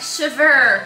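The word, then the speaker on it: chèvre: Chevre.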